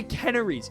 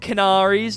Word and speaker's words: canneries: And one thing that I noticed too, they're canneries, not canaries, not canneries, canneries, just canneries.